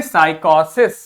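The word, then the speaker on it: psychosis: है PSY लिखा है, लेकिन यहां पे प्रोनाउंसिएशन की जगह क्या लिखा SI, मतलब साय। ठीक है, जब आय के ऊपर ये बना होगा मतलब आय बोलना है हमें। ठीक है, जब नहीं बना होगा मतलब ई बोलना है हमें। ठीक, ये क्या हो गया को, ये क्या हो गया सिस, तो क्या बोलेंगे साइकोसिस। फिर देखो PSY लिखा है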